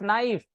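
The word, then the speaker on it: knife: और बी यूटी बट के एन आई एफ नाइफ एल आई एस टी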